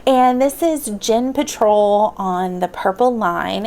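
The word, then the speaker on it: Djinn: right, and this is Dhinn Patrol on the Purple Line, and this is by Deepa Anappara, I believe is how you say that, but I did look up Dhinn, and the D is silent, and this is actually a newer book.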